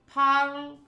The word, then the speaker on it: parle: No S sound at the end of parle. P. Oui, je le parle un peu.